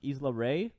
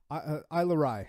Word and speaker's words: Isla Rye: We had, Ryan, is this pronounced Isla Ray? Isla Rye.